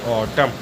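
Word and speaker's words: autumn: N silent होता है example ए यू टी यू एम एन इसमें एम साइलेंट है सॉरी एन साइलेंट है इसको पढ़ेंगे ऑटम अगला है सीओ एल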